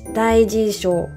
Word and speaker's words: Daijisho: And I always find it very weird to say like Daijisho, because like it is totally not the way how we should pronounce it. The correct pronunciation is Daijisho.